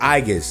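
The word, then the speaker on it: Aigis: I've been saying Aegis, it's Aegis. I'm sorry.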